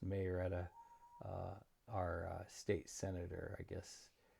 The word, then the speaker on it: Marietta: Um, our hurricane, it is what, 3:47 on Friday in where I live in Marietta, Florida, and I heard it pronounced Marietta.